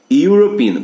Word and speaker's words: European: European, quando você tiver, são poucas palavras, mas quando tiver E com U, o E é mudo e o U tem som de Y.